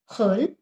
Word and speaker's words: hurl: Hurl, R का उच्चारण बहुत हल्का सा करना है.